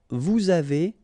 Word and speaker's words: vous avez: nous avons, vous avez, a Z at the end will produce this E sound, avez, little link between the two, vous avez, ils ont,